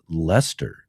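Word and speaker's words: Leicester: Good day from Lancaster or or pronounced Lester.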